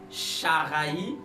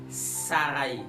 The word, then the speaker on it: Saraï: C'est-à-dire, on ne va plus prononcer ch, mais on va prononcer s. Donc, au lieu de dire Sharaï, on va dire Saraï.